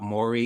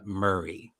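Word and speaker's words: Maury: the best things about mori is the fact that he doesn't correct the people that call him murray i love that because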